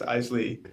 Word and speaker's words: Eisele: veral Performing podcast sorry my last name is pronounced Eisley eisy sorry that's helpful I should